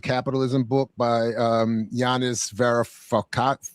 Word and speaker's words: Varoufakis: techno-feudalism what killed capitalism book by um Yanis Varoufakis. Varoufakis.